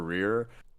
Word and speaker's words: Rerir: I personally been saying reer because I just like saying it that way.